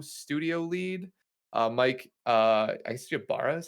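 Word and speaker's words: Ybarra: the current co studio lead uh mike uh i see you bara is how you pronounce this last uh mike uh has been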